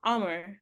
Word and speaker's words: Amr: I used to talk to I think it's Amr. Amr is how he said his name is pronounced. But I always called him Amir and he was like, no, it's Amr.